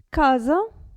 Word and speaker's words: casa: regole di pronuncia adesso S tra due vocali attenzione a come si pronuncia casa presa casa presa quindi non si pronuncia S come se fosse una S casa presa però se